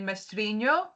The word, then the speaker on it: Mestrinho: You're pronouncing that the Australian way, and that's all I ask. Could you do it the Italian way for me? It's actually Portuguese. So if you're Portuguese, it's actually Mestrinho.